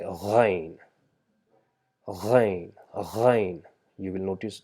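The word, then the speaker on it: غين: So it's just same as ain, but instead of saying ain, we say ghain, ghain, ghain.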